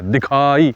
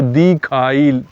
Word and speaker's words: دکھائی: اب دکھائی کو لوگ دال یہ کھے الف حمزہ چھوٹی یہ لکھ رہے ہیں, حالانکہ یہ نہیں ہے, یعنی دال کھے ہے, دکھائی, وہ دیکھائی لکھ رہے ہیں.